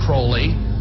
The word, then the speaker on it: Crowley: He likes to be have his name pronounced Crowley to rhyme with holy.